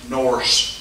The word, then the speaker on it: Norse: of were called Old Norse languages, N-O-R-S-E, rhyming with horse.